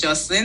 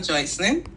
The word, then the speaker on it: Joycelyn: But you said it's pronounced as Jocelyn, not Joycelyn.